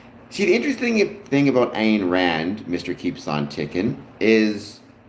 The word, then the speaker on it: Ayn Rand: It's Ayn Rand, right? Ayn Rand, how you pronounce it.